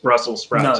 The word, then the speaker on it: Brussels sprouts: um but yes because it would be difficult to pronounce the s because you're going into another s on the sprouts so brussels sprouts brussels